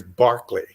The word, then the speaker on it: Berkeley: a 10-minute lesson on how to pronounce it properly as barkley everybody i found everybody